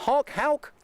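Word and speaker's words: Houck: And I think it's pronounced Halc? Halc.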